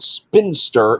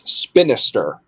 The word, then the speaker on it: Spinister: his name correctly because it's not spinster it's spinister but whatever surprise they